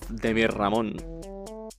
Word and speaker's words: Demirramon: It needs 2 R's to keep the pronunciation of Ramon, or else it would be Demirramon instead of Demirramon.